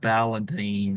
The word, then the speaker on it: Ballantine: Folks, I give you the absolutely lovely Saratoga Ballantine. How do you do, Well, that's? Valentine. It rhymes with Valentine.